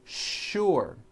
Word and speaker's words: sure: not know is that there are some words in english that are written with the letter s but are pronounced with the sh sound words like sugar and sure and to make things